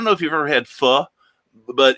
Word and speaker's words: Pho: is, I don't know if you've ever had pho, but it's a Vietnamese chicken soup.